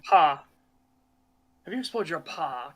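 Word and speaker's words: Pagh: The Pog, or however it's pronounced. Yeah, paw.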